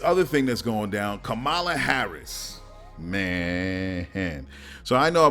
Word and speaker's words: Kamala: of you know what kamala harris or kamala excuse me the right pronunciation and the republican senator